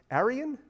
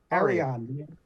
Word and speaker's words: Arion: your Sci-Fi series that I always get the name wrong it's Aran Arion Arion Lord Atlantis it was a sword and